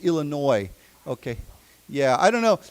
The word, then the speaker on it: Illinois: When we say Illinois, we don't say Illinois. Okay. Never pronounce the S. It's just Illinois.